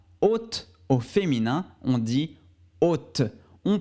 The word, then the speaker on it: haute: au féminin on dit haute on prononce seulement le thé à la fin on ne prononce pas le e donc on dit hot